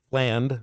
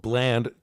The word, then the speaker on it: Fland: uh Boogie flan flan fland we was told Bland no we're not going to go with Bland we're going with plan or gland if we're trying to pronounce his name properly Boogie fland yesterday Billy